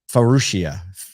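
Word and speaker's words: Faurecia: supplier um oh man I'm gonna get this name wrong well Patrick color it's farushia F we'll call it that f-a-u-r-e for Russia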